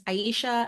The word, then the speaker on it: Iesha: thank you Ellen so yes my name is Aisha um and if you're unsure on how to spell it or how to pronounce it my name